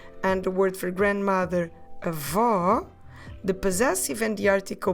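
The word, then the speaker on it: avó: what we do is those two sounds we put them into a open ah and even if you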